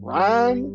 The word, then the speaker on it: Ryan: My name is Ryan, but most people call me Ryan. If you don't know how to pronounce it, just hold out the Y and say Ryan if you got a